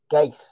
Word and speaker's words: Geiss: same problem next week geiss so rhymes with ice i like it i